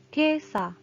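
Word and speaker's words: 今朝: Kemudian apabila dia digabungkan dengan kanji pagi menjadi kesa. Kesa dibacanya kea, kesa pagi ini.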